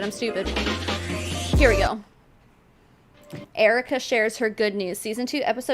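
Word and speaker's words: Earika: I a it says up there, but it's pronounced Erica, but her mom is spelled the same way.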